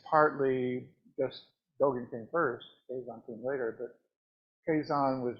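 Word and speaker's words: Keizan: Kazan is the pronunciation, and Ajo.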